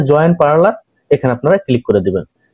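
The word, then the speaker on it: Parler: simply লিখবেন আমি দেখাচ্ছি পি এ আর এল ই আর উচ্চারণ হবে পার্লের তো এই পার্লেরে আপনার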